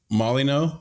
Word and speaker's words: Molyneux: Is it pronounced Molyneux? Yep. Jeff Molyneux.